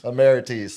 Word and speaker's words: Emirates: I still almost say it wrong every time now because of you. Emmerites. Ammerites. That's right. You pronunciate it correctly. So, as far as just you put the empostas on the wrong sal.